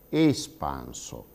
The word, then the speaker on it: espanso: participio passato di espandere, noi notiamo che nell'italiano standard dovremmo pronunciare quella prima E di espanso come una vocale chiusa. Noi dovremmo pronunciare in standard espanso.